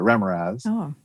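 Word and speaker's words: Remorhaz: And so when I talked to Errol, I knew he designed two iconic D&D monsters, the Remoraz, which he corrected me, that's how you say it, the Remoraz, and the Ankheg, which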